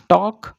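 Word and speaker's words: talk: ठीक है, टॉक less, देखिए यहाँ पर हम एल साइलेंट होगा, इट इज टॉक लेस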